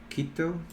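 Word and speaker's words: Quito: you you're in Ecuador yeah how do you pronounce that city kita kita kita my friend lives there in that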